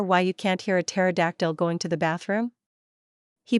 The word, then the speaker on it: pterodactyl: Want to hear why you can't hear a pterodactyl going to the bathroom? He pauses dramatically. Because the P is silent.